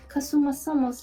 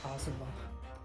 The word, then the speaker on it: Kazuma: Why did you take Kasuma-sama's life? It's Kazuma.